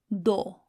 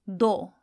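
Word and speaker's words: دو: The number 2, which is do. So knowing that go is spelled kaf, vow, how do you think do is spelled? It'll be dal and vow.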